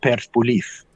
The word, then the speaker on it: Persepolis: Also, there was the ancient library in Persepolis, which, of course, the ancient Greeks and Persians, you properly pronounce it Persepolis, which is the city of Persians, and that was burned down by Alexander the Great.